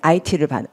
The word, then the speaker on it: it: 자, it 하고 eat. 자, eat 먹다예요. 그것이에요. eat 이게 이렇게 치즈 발음을 하듯이 하면 ea를 발음한 거고 뱉듯이 발음을 하면 it를 발음한 거라고요.